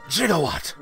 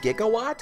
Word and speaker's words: gigawatt: in a try meet jigawatt uh technically it's pronounced gigawatt what did you just